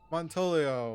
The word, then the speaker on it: Montolio: Montolio. Am I pronouncing that right? Yes, yes. Montolio. What is a Montolio?